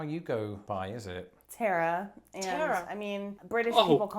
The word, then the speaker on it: Tara: Tara. Yeah, but in England, we usually pronounce this name a little differently to how you would pronounce, for example, Sarah.